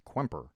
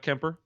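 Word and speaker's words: Kuemper: scored twice uh darcy kwemper and it's kwemper by the way q-k-u-e-n it's not kemper no yeah i looked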